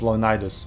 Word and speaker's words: Leonidas: Also, it's Leonidas, not Leonidas, by the way. He's Greek. It's not Sinani, it's Kanane. It's Greek. Like, respect the original pronunciation.